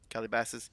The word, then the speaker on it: Calabasas: recreational area really well I want to say it's pronounced like Cali bosses but it's it's probably caller bosses it's weird word though that's what I'm getting at though that's a very odd word color bosses it's probably pronounced something like it's probably over time I've been Americanized too like Kelly bosses or something Calabasas yes touch the